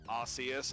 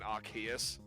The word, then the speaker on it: Arceus: __ ] it up like indeed arceus and arceus they they say both of those like um yeah and i think in one of the movies it was it was like they said it archais and then in like